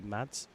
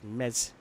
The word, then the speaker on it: Mads: It's Mess in German, not Mads as it's spelt. The English pronunciation would be Mads, but it's Mez, and it's not Hershkov, it's Herschler.